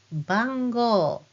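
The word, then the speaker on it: ばんごう: Now when I say this word, bango, bango, do you hear the O sound at the end? But you still spell it with hiragana U.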